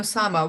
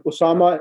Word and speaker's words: Osama: Or we normally pronounce it Hamza and Osama. Would that be the right pronunciation? That is right, because you're saying Hamza, you're making it silent. That's fine. Osama, that's correct.